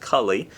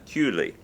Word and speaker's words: Cooley: best his last name if you didn't know how it was pronounced you might think it was pronounced Kali but he's from Canada it's French Canadian pronunciation cutely so Marty Cooley Marty